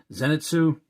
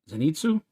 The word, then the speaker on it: Zenitsu: tanjiro we have uh uh I can never pronounce his name zenitsu zenitsu and we have a nose K so we